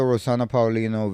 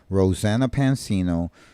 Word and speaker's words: Rosanna Pansino: gonna get into the rosan Paulino video I hope I'm saying her name right rosan P Pansino Rosanna Pansino I was saying her name wrong the whole time but I'm